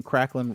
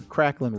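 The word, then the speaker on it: Cracklin': didn't reach number one so they're saying krain Ros it's actually kracklin Ros you know that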